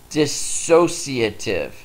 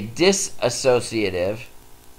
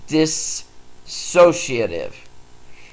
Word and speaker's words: dissociative: seen that word it's dissociative a lot of people will try and put an A in there so it's they say disassociative and that's not the correct pronunciation so say that dissociative and that's like an